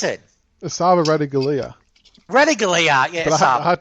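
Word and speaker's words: Ratugolea: What's how you pronounce it? Asava Ratagalia.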